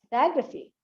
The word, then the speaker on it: photography: Actually, this is pronounced as photography, photography, not photography. Okay?